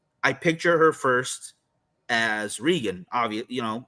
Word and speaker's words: Regan: Well, her mom's a fucking retard because everybody else is saying Reagan. Wow. Either that or vice versa. Wow. Maybe everybody else is just. Maybe that's why she went through this whole thing. Everybody's saying her name wrong. So she went demonic. My name's Regan.